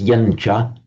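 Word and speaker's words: yañca: You always pronounce it as yencha, but you could write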